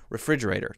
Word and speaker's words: refrigerator: That is very hard because the R is right beside the F.